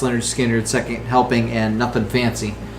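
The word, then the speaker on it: Lynyrd Skynyrd: He most famously co-wrote Sweet Home Alabama, but he was on their first 3 albums, pronounced Leonard Skinner, Second Helping, and Nothing Fancy.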